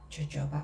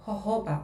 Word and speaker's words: jojoba: So today I'm going to use jojoba oil or jojoba oil. I don't know, it depends on where you come from, how you pronounce it.